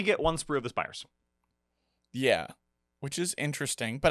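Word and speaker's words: Spyrers: Last but not least, the Spires, which I keep mispronouncing the Spryers because they are spry, but no, they're the Spires. It's like a spire, but with a Y.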